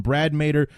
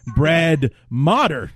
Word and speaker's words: Motter: for the Rams, so I called him Brad Mader, the traitor, and it's actually Brad Motter is his name. That is the way it's pronounced.